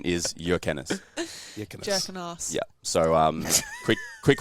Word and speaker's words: Jurkenas: name gets the bus dies Australian version of or jerk and ass if you're in high school the correct pronunciation is your canis yeah so um quick quick one I've got